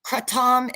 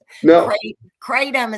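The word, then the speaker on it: kratom: I'm sorry cray crom katam is what they call it in Europe in Asia it's katam I'm sorry but when I say it like that people look at me like I'm insane so um katom is how the Americans say it you know I need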